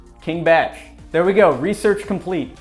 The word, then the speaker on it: KingBach: And then he says, it's pronounced Batch. King Batch.